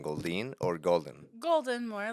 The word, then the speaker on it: Golden: Gold or golden golden more like the color. Golden like the color.